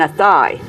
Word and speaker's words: Athy: and I said, "My father's from Athay," and they'd say, "Oh, you mean Athy?"